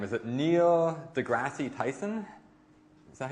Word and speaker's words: deGrasse: i'm blacking on his name is it neil degrassi tyson is that how you say it neil degrassi tyson thanks yeah okay so someone neil tyson okay neil degrasse tyson thank you neil grant degrasse tyson um